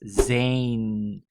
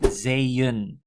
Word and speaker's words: zeeën: But if I would not add the trema, then it would just be 3 e's, right? And you would pronounce that as zijn. But it's not the correct pronunciation, so you have to make it zeeën.